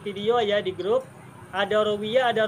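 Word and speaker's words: رَوِيَ: Rawa sama rawiyah huruf-hurufnya sama, tapi cara baca wawunya beda. Ada yang wa, ada yang wi. Ada rawa, ada rawiyah.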